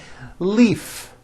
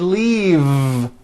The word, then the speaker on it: leave: is that correct no it's not leaf with an unvoiced F I should have said leave with a voiced V sound faisa she just received